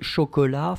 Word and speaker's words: chocolat: As in chocolat, final t is not pronounced.